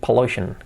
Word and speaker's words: pollution: Fíjate la pronunciación que no es pollution, pollution. Las P es muy fuertes, pollution. Todas las palabras que acaban en tion Fijaros que cambia mucha pronunciación de este sonido. Shen.